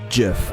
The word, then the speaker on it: GIF: In 2012, the word was GIF or GIF. I say GIF. I think that's the right way to say it.